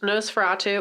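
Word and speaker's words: NOS4A2: So we watched Nosferatu, which I did not realize that's how you said it until I read it for real. Yeah. I was like, letters and numbers. It's spelled like a license plate.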